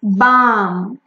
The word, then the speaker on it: balm: Like lip balm or any other ointment used for body, it's balm.